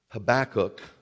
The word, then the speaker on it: Habakkuk: of trouble when it comes upon our assailants habakkuk which is the way it's pronounced the prophet was fearful of the invasion